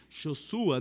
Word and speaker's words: Yeshua: Jesus de maneira que do hebraico a pronúncia é josua né um pouco diferente